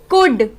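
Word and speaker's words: could: कुड, क्योंकि जो डी है वो एल पहले आ गया है और डी बाद में, इसलिए डी से पहले वाला एल जो लेटर है, अभी हमने सीखा डी से पहले अगर एल आएगा वो साइलेंट होगा।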